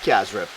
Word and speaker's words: cassareep: In Guyana we pronounce it Cassareep, right? Cassareep. Cassareep. Cassareep. Like it's CA, but it's a CY. It's Cassareep. Cassareep.